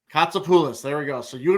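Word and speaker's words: Kotsopoulos: t s o p o u l oos katulis katulis there we go so you and Bobby got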